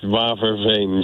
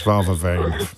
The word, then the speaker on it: Waverveen: Did I pronounce any of that correctly, apart from Netherlands? It's Waverveen, James. Of course it is, Waverveen.